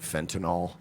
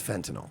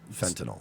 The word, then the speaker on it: fentanyl: First of all, can New York Jews and trashy Long Island people stop pronouncing it fentanyl? It's not. It's fentanyl. Yeah, fentanyl.